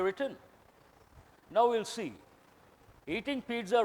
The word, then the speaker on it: pizza: In Italian language, two Z's should be pronounced as TZ.